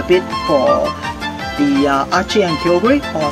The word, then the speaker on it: Kyogre: for the archie and kyogre or some of you guys pronounce this uh kyoga so um right now